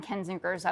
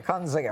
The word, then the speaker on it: Kinzinger: Kunzinger. You're not sorry. Kinzinger.